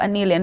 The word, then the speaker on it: Aneillyon: Hello, Aneillyon.